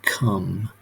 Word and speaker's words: come: It's actually come, and you've got a silent E at the end. You do not say eh there.